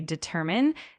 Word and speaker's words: determine: Uh, one small note, just make sure that when you say determine, the emphasis is on the second syllable.